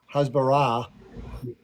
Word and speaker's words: Hasbara: They call it Hasbara, emphasis on the last, and they say it translates this is the word explanation.